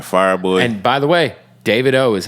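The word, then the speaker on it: Davido: yeah my man Fireboy and by the way David O is how you say his name oh yeah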